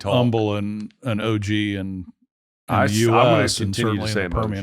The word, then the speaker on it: Humble: on this one first the H is silent but Umble yeah I I lived